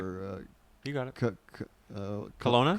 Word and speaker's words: Kelowna: Kelowna? Kelowna with a K.